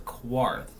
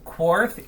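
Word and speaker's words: Quarth: q u a r t h so the quartth and the Japanese much easier to say uh sort of sound like but um your phone is going on I'm blowing up yeah so korth is I believe a spaceship Puzzler um again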